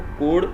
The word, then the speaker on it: chord: कोड क्या होती है, जिसको बहुत सारे लोग चोड भी कहते हैं, एक्चुअल में इसको कोड प्रोनाउंस किया जाता है।